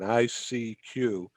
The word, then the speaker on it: ICQ: So ICQ, I'm pronouncing those letters, enunciating each one, ICQ. But Yes. what it really means is I seek you, right?